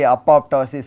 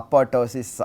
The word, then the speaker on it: apoptosis: them are accepted okay similarly apoptosis apotosis anyway you say that is accepted as correct although the correct one is supposed to be both P’s being pronounced.